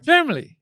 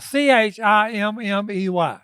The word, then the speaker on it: chimney: Uh I think it's c h c h i m n e y, chimney. But he says "chimley".